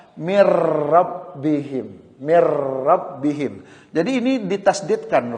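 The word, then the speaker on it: مِن رَّبِّهِمْ: Min rabbihim. Tadinya min rabbihim. Ketika kita gabung kata-kata ini, maka cara membacanya atau mengucapkannya adalah mir rabbihim.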